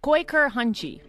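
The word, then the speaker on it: Kooikerhondje: It's the Dutch Quaker Hunchie. Quaker? It's spelt like I can't even describe.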